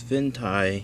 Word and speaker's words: Fintie: Venue 8 Pro and this fentai I believe that's how you pronounce it uh us or excuse